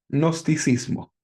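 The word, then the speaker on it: gnosticismo: Se escribe con g nosticismo.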